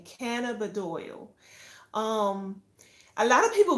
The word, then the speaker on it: cannabidiol: CBD oil, for all those who may not know what it is and all it entails, um, CBD is short for cannabidiol. That's the correct pronunciation, cannabidiol.